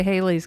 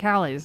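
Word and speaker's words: Halley's: Just don't say Hayley's comment, because that's not how it's pronounced. I'm so tired of that. I'm so tired of that comment. Like Hallie's.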